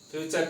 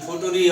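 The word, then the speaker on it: future: টু, ফুটু আর ইরি, ফুটুরি অনেকেই কিন্তু উচ্চারণ করে। এটা কিন্তু ফুটুরি পড়া যাবে না, অথবা ফাটুরিও পড়া যাবে না।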